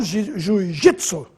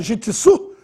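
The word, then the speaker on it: jítsu: em ó já o Jitsu tem que ter acento no ido gitsu porque termina em um e é paroxitono não é gitsu é jitsu e bônus vai ter acento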